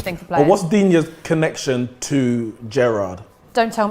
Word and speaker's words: Digne: Dina. Digne. Okay, Definitely not Coutinho. My pronunciations have gone right down the pan.